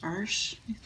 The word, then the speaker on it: Arches: is the Irish brand it's spelled like arches but pronounced are SH I guess um it's really nice